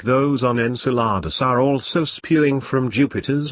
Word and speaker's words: Enceladus: energy are available for organisms to exploit Enceladus pronounced Enceladus provides all three it's looking more and more